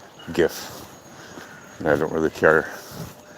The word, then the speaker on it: GIF: interface format not graphical so the G is a hard G GIF and I don't really